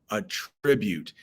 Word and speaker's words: attribute: the next one is attribute attribute and there is another word in English attribute spelled the same way pronounced differently but we are talking about a tribute and that means to